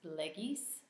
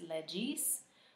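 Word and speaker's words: legis: next we have Lex leis Lex leis um ecclesiastical pronunciation would be Lex leg um in case you hear that recognize that g can be different depending on pronunciation but we will learn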